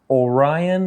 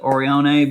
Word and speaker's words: Orione: Today we are revisiting the b.h.i, either Orion or Orione, or I think this is from an Italian builder, and I'm almost positive that he pronounced it Orione, but it's Orion to me.